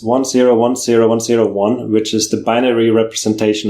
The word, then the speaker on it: 10101: It's 10.10.1, but it actually looks like 10101. So, well, again, let's start there. Why the name 10.10.1? 10.10.1. It's quite a nerdy name, actually. It's binary. It's 1010101, which is the binary representation of 21.